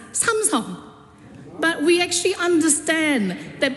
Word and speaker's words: Samsung: It is supposed to be Hyundai and Samsung is not Samsung, it's Samong.